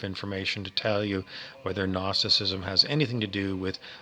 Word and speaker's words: gnosticism: to call it gnosticism it starts with a big g silent g n o s t i c i s m gnosticism which has to